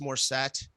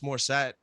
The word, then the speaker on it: Morissette: dude, at an Alanis Morissette concert, I had like everything. The way you say her name is very interesting to me. You go Alanis Morissette. You emphasize the et.